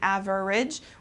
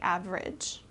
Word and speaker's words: average: the average okay so instead of pronouncing every syllable we kind of put them together instead of saying average we say average all right good thanks